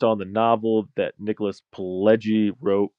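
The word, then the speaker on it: Pileggi: because I think a lot of people say Pelgi, which is incorrect, you know, based on the novel that Nicholas Pelgi wrote called Wise Guys.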